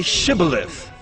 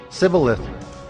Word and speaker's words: shibboleth: said no they said to him then say shibboleth and he said civileth for he could not pronounce it right then they seized him and